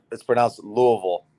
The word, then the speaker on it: Louisville: So it's pronounced Louisville. Louisville. I butchered it. Butter in your mouth. Louisville. Louisville. Okay. Louisville. Yeah. You know, it's not Louis.